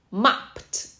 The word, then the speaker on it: mopped: OK，for example, mop, mopped.